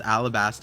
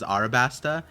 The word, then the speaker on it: Alabasta: So Noor said, Par, longtime supporter here and love your content, bro, but I cringe every time you pronounce Alabasta as Arabasta and claimed that to be the correct way.